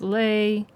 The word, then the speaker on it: le: Syllable for flat six is lei. Syllable for flat 7 is t.